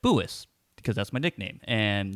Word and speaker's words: Boois: oh hey what's your name and i said boois because that's my nickname and they're like okay how do you spell that and it's like b-o-o-i-s and like all right and they give it